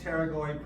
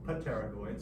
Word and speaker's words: pterygoid: Hanging down from the body of the sphenoid are the pterygoid processes. P is silent. I would pronounce it pterygoid, so I spell it correct.